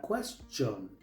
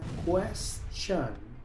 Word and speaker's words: question: Muchos pronuncian esta palabra question, pero aquí la t se pronuncia como sh, la i se pronuncia i, la o se pronuncia a, así que esta palabra se pronuncia question.